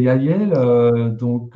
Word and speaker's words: Yahyel: Donc, on va commencer par les Yael. Ça s'écrit YAHYEL.